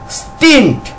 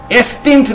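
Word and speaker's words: stint: কি জানি ইন্ট তাহলে এসটি আইএনটি কি হচ্ছে স্টিন্ট এসটিন্ট না কিন্তু আবার খেয়াল করো স্টিন্ট স্টিন্ট দন্ত শ উচ্চারণটা খুব ছোট্ট স্টিন্ট এইখানটা কি শিখেছি এসটি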